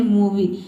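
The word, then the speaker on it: movie: अंत में आई ई आया है और यहां पे इसको हम इ पढ़ते हैं। ठीक है? तभी इसका प्रोनंसिएशन बनता है मूवी।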